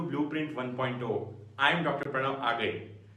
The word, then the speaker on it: Agale: Pranav Agale. Some call me Agle, some call it as Agale. You can pronounce it as the way you want, just don't call me ugly.